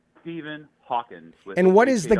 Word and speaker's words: Hawkins: This is Stephen Hawkins, not Hawking. Yeah, I said his name wrong.